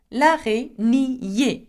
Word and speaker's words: araignée: L'araignée, okay, remember, ni and then e.